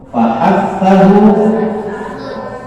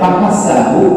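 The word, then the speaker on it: فحثه: Fahathahu, syahsun, sakan. Ya, ini menyebutkannya jangan sampai salah ya. Fahathahu, kalau dibacanya fahasahu nanti berarti huruf sin.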